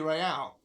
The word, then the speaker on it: real: You owe me 130 real. What's real? Oh, excuse me. You owe me 130 real. Real. It's pronounced R with a mock aristocratic scent.